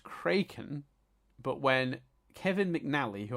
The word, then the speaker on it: Kraken: um because the word is supposed to be pronounced cren but when Kevin MCN who I'm not sure